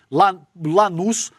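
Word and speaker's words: Lanús: E essa declaração veio depois da derrota do Flamengo pro Lanuz. É isso, né, Lê? A pronúncia desse time aqui, Lanus, por 1 a 0 no jogo de ida da Recopa Sul-Americana, tá?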